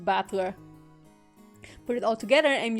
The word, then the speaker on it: Battler: far the problem is my given name is made up of the characters for fight and person ah okay so i did read the that one kanji right and it's pronounced battler put it all together